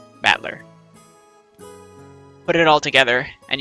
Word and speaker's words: Battler: the characters for fight and person and it's pronounced battler battler put it all together and you've got Bushido